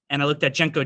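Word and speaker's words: JNCO: trading got it no so i didn't know jenko jeans at all in fact i was going to spell it as j-e-n-k or a sentence that's actually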